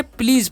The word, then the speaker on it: please: प्लीज़ पढ़ना है, यानी कि SE जो है इसका उच्चारण ज हो जाता है।